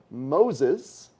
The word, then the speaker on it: Moses: off of the artist moses yes rhymes with noses uh i love that